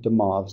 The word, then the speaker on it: de Moivre: Okay, and this is how you pronounce it, de Moivre's.